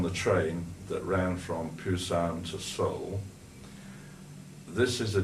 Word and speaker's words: Busan: Colombo Singapore Hong Kong Pusan it was spelled with a P there but they call it Busan with a B now well I got off